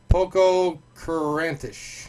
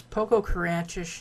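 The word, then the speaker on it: Pococurantish: The word this week is Poco-Carantish.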